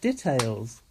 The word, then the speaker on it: details: The dih-tales. That's how they say it. Don't say details. That's how Americans say details.